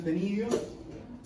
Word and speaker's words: ctenidios: Se escribe con una C que es muda. Se denominan ctenidios.